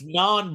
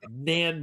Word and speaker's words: naan: It's naan bread, not nan bread.